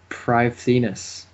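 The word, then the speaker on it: Prifddinas: That's the thing they said how to pronounce it. Privethinus.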